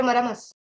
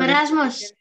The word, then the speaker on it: marasmus: Sir, Maramas. You cannot say it properly, right? It's very dark, sir. So marasmus.